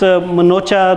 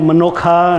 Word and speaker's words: Manocha: And of course, Manocha, last name, they call it Manokha, and different pronunciation, but that's okay.